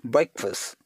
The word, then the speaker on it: breakfast: government and then it's and the war called breakfast until the silent here and returns as breakfast so instead of the long vowel we have to make it a very short as breakfast and then see who